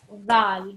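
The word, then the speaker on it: ذال: The Dhal, yeah? Dhal. So, for example, think about the word this. So, for example, you say this in English, yeah?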